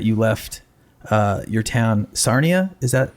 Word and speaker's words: Sarnia: Um, is it true that you left uh your town Sarnia? Is that how you pronounce that?